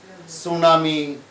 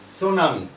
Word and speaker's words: tsunami: তো সেক্ষেত্রে আমরা বলতে পারি দ্য ফ্লাড, সুনামি, তাই না, এরকম আইলা বা এরকম যে সমস্ত প্রাকৃতিক সাইক্লোন, এরকম একটা দিয়ে দিতে পারি।